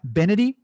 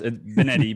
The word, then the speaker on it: Benetti: i pronounce that right bennetty uh it's a pass benedi but yeah you're pretty good